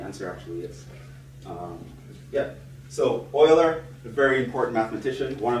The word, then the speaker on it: Euler: that's he's a big deal right see students pronounce this Euler all the time we're gonna use Euler's method wrong pronunciation Euler it's pronounced Euler he's a swiss mathematician very